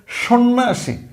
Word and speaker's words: সন্ন্যাসী: জফলা বানানে আছে কিন্তু তার উচ্চারণ হয়নি এখন এইটা আবার কোন কাহিনী